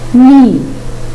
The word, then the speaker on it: knee: No, new, knee. Again, no, new, knee. There, the silent letter is K.